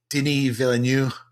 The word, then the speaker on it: Denis Villeneuve: One by, I'm going to try and say his name the French way. Denis Villeneuve.